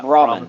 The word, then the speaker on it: Brahmin: Because I know two-headed cow is a I think is how you Brahmin, pronounce that. Yeah. Brahmin.